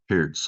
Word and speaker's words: Pirc: pieces though so E4 perk PS I guess as it's pronounced PS um I'm going to